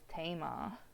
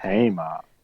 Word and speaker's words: Thema: It's pronounced Tama. Yeah, it's pronounced Tama, but it's spelled with like if you look at it on paper, it looks like Thema, but it's Tama is how it's pronounced.